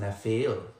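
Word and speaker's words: נפיל: one English transliteration of H5303 Napil pronounced Nafil.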